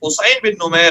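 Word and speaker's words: حصین بن نمیر: میں اس کا تلفظ حسین بن نمیر ہے.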